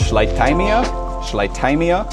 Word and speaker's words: Schleitheimia: Number eight is from Switzerland, and its name, I believe, is supposed to be pronounced in German, and that would make it pronounced Schleitheimia, which is really fun.